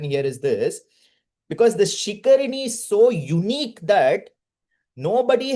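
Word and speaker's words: शिखरिणी: Shikarini in Sanskritam. Shikarini. Correct, Vishwanath pronunciation.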